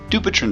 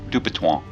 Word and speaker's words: Dupuytren: an abnormal lipid profile dupiton disease is named after the world famous 1800's French surgeon whose name is pronounced something like dupan but if you don't speak French just say dupiton dupiton disease changes over